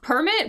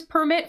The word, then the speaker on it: permit: we can read that this word here this permit we can read it two ways right we